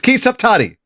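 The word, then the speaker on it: Ki Saptadi: I can't pronounce it. I'm trying. I'll look up the name. It's Ki Saptati.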